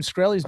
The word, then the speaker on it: Shkreli: You have Martin Shkreli's number.